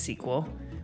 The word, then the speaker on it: SQL: databases use a language called SQL pronounced sequel which stands for structured